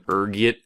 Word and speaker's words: ergot: There's a few different ways you can pronounce it depending on your social standing, ranging from ergit to elgo. Being the disheveled pauper I am, I prefer ergot.